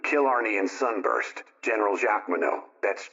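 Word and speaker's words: Jacqueminot: does not include kill Ary and Sunburst General Jac Mano that's j a c q e m i n o t pronounced Jack Mano Paul nro Madam super golden emblem or who's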